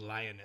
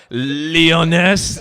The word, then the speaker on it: Liones: You're like, Leoness? No, don't make it all French. It's lioness.